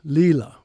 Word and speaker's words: Līlā: pronounced like the English L in let. Lila, play.